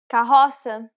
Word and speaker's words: carroça: carroça, The accent used here is the cedilla. It indicates that you should read the C as an S.